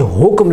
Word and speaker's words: حکم: حکم دیتا ہوں۔ یہ حکم لفظ نہیں ہوتا، یہ حکم لفظ ہوتا ہے، ہا کے اوپر پیش اور کاف کے سکون کے ساتھ حکم۔ اسی طرح اکثر لوگ